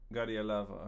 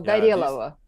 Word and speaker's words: Gorelova: Right, and the thing is, if you know the Russian language, if you have accent on the O, it will be O. But if there is no accent on the O phonetically will become A. So you will pronounce Ga, Re, Lava. Gorelova, okay. Yeah. So the accent is on the middle syllable, and O phonetically becomes A.